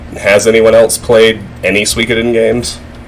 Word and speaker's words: Suikoden: Suikoden, I think is the right pronunciation. It's Suikoden.